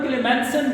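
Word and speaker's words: Clemmensen: Number one क्लेमसन reduction. आप सी को के की प्रोनाउंसिएशन दे रहे हैं। का से इसको प्रोनाउंस कर रहे हैं।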